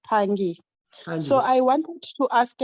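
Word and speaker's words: Phangi: hello scott yes yes my name is pronounced pangi so i want to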